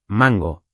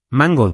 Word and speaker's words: mango: Mango va con el acento al principio, mango, no mango.